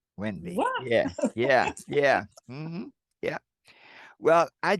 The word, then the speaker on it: Wende: But my name is spelled differently. It's spelled Wende. Yeah. But I was born Wende. Wende, and that's something. And that's like the French spelling, kind of. Yeah, Wendy.